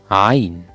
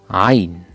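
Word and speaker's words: ع: Ain. Ain. To pronounce it correctly, feel your reaction once you smell some stink.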